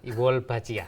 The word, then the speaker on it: Wolbachia: Bacanya apa sih, dokter? Wolbachia, ya.